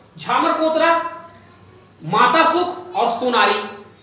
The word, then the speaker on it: Ksan: मेघालय, मेघालय में 3 important mine है, उमरालोंग, मावलोंग और तीसरा सान, जिसकी स्पेलिंग है KSAN।